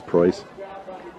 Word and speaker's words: Preuss: It's a German name. Most people would not be able to pronounce it, but it is Preuss.